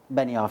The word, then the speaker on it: Benioff: about how you worked with David is it pronounced Benioff Benioff yes any off who was the screenwriter of